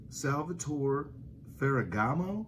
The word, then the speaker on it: Salvatore Ferragamo: fourth one it is famous but can you pronounce it salvator ferragamo ferragamo everybody knows the spring so i have